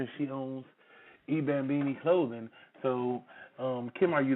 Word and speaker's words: I Bambini: I just launched my line at the end of May, and my clothing line is pronounced eBambini.